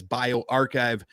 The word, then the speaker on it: bioRxiv: how it's pronounced uh bio rxiv which is unfortunately also not a comic book villain and is also pronounced as bio archive do perform some basic